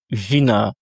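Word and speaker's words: жена: L'accentuation se situe sur le A. Et vous remarquez ici que le y se lit comme un i, tout simplement parce que le Y n'est pas accentué. Donc dans un mot quand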